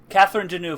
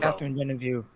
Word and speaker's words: Catherine Deneuve: Susan Sarandon, Bowie, and Catherine Deneuve. Catherine Deneuve. Catherine Deneuve. The French pronunciation's probably the right one.